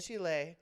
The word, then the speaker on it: Chile: I have a I know you're supposed to pronounce it right. That's right. Chile.